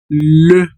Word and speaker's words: le: Aquí van a decir le. Ojo, ¿cómo estoy haciendo la boca? Cerrándola. L. L le le.